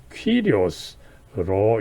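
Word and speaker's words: κύριος: 이거에 이제 헬라어 그리스어는 퀴리오스로 이제 발음하는 것을 우리가 알 수가 있습니다.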